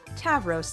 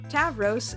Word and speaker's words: Tavros: Tavros is the Greek word for bull, and its pronunciation is the same as the modern Greek name for Taurus, his zodiac sign.